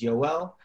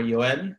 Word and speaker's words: Yoel: want to introduce myself my name is yo L or yo ed depending on your pronunciation I'm from the US so my name my whole life has been you well but then when I moved to Israel it is now yo ed I'm also from